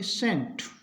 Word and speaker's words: scent: एस के बाद सी है तो सी का उच्चारण नहीं, एस का से होगा, SCENT, इसको पढ़ेंगे सेंट, सीन दृश्य, सेंट इत्र।